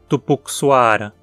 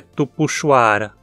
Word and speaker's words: Tupuxuara: como não podemos dizer tupixuara o correto é tupuxuara e se esse vídeo